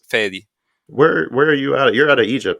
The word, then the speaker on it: Fady: fatty fatty yeah both pronounce iations work honestly it's just whatever is easier for you guys but yeah fedy usually it's a middle eastern name so yeah the the the pronunciation I'm used to is fedy where where are you